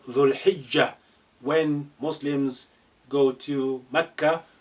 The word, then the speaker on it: ذو الحجة: It's called Dhul Hijjah, when Muslims go to Mecca to perform the pilgrimage. Dhul Hijjah. Look how this lengthening dhu now been shortened. You just link the dhu with lam sukun.